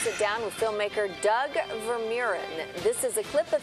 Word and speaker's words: Vermeeren: So this morning, to give us some insight, we've got the director of the Gratitude Experiment, as you call it, Doug Vermeeren.